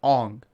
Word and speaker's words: Aang: In the movie, they mispronounced their names. So his name is Ong, and Sokka's name is like Sokka, and then Zuko's is Zuko, or something like that.